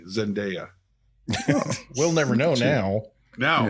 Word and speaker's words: Zendaya: to go on the record I would have pronounced it correctly Zendaya we'll never know now now I know I